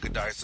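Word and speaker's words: Giudice: How do you pronounce the last name? Goodice? Yeah, Goodice, uh-huh.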